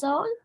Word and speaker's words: Marisol: And I love the way you said her name, Jean. That was so beautiful. Magisol? Yeah, that's a beautiful pronunciation of it. Well, we have a lot of Magisols here in El Paso. Okay. So that's the way we pronounce it here.